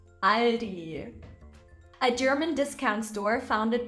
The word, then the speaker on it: Aldi: discount retailer in Germany after learning that a is a in German Aldi is not how this brand is going to be pronounced it's Ali Aldi a German Discount Store